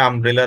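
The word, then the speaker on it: umbrella: না, আম, আম, আমব্রেলা, এটি তো ইউনিয়ন বা ইউনিভার্স বা ইউনি কেমন উচ্চারিত হচ্ছে না, সুতরাং এখানে আমরা চোখ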